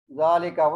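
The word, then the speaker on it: ذٰلِكَ: Zalika, we don't write alif, but we read the alif like this.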